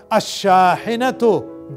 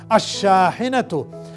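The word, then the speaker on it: الشاحنة: Shahinatun, a truck, ash-shahinatu, the truck. Yahan bhi aap mark kar lijiye ki sin ke saath aur sheen ke saath lam silent. Ash-shahinatu, dekhiye uska ek hi tarika hai ki isko dasiyon baar aap repeat karein.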